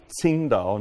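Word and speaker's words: Tsingtao: in in Shandong and that is why qingdao beer is spelled TS well it's an oversimplification that's why it's spelled t-s-i-n-g and not CH or something like that because that's sing Dao not not the qingdao in the local well it's just an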